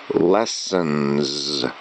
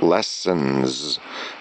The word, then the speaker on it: lessons: So when you say it, free English lessons. It's actually a Z sound at the end. Free English lessons.